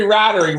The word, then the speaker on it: Rattery: at the Pioneer Village Henry rattery rhymes with ladder he's got 12 to